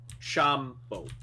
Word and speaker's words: Chambord: Alright, how do you spell it? CHAMBORD. Oh, CH. Yeah. Chambeau.